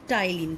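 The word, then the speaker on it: Ptyalin: कह सकते हैं, या इसका एक नाम होता है टाइलिन, जिसमें कि पी साइलेंट होता है।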